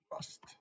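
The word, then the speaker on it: Rast: I'm saying it sounds like Rust, as you said. Let me write this down. We spell it R-A-S-T. Chintz, Rust.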